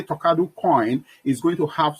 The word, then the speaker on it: Talkado: the name comes from, I said Talkado. That's the pronunciation, Talkado.